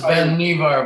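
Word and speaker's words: Vannevar: this is um the life magazine um article by vanderbar bush that it's pronounced ben nevar by the way okay yeah and i think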